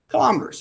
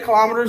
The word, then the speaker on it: kilometers: Kilometers. And you can say kilometers or kilometers, either one. Both pronunciations are acceptable.